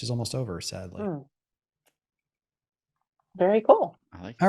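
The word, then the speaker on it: Kühl: Kevin yeah but uh cool k-u-h-l I think is how you pronounce it company uh and then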